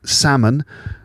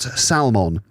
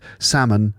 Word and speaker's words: salmon: that's the fish right salmon not salmon okay not the l is silent salmon not salmon so yeah the pros